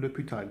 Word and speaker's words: L'Hôpital: L'Hôpital, yani L'Hôpital, L'Hôpital diye yazılıyor, L'Hôpital diye okunuyor.